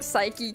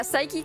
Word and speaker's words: Saiki: I thought it was like Psyche K, just how it looks. The Disastrous Life of Psyche K. Is that one? Oh yeah, Saiki Kuso no Sainan.